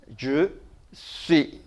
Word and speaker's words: je suis: 끝에 나오는 s는 발음이 없어요. 자음이니까. 그래서 여기까지 읽으면은 je suis, je suis 이렇게 되죠.